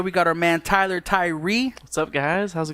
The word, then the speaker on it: Thuirer: was interesting alright alright so it's pronounced Tyree yeah but it's felt